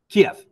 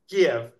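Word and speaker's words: Kyiv: K right you know the old way of saying it was Kev and now the new modern Ukrainian way is ke and I go back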